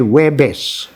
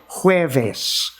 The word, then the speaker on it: jueves: she did on hueves hueves means thursday in spanish as far as i know in pilipino we say webes but they say hueves okay on jueves iguana